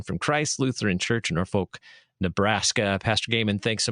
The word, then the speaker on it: Norfolk: Do you pronounce it Norfolk? Oh, yeah. I'm not from Nebraska. If you're local, it's Norfolk. Norfolk. But if you're not, Norfolk. So we accept that as well.